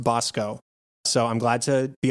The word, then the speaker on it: Basco: learned that it's dante bosco it's it's spelled basco but it's pronounced bosco so i'm glad to